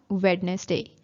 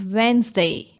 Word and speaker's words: Wednesday: It's not witness day. It's Wednesday. Wednesday.